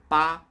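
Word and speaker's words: 八: eight is pronounced as ba which sounds like the word fa it means getting rich almost every Chinese person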